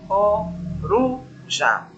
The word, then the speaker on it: coruja: Então, veja aqui na palavra coruja, subir, já. Aí desci, olha, coruja. Então, veja só, olha, última sílaba, já. Penúltima, ru.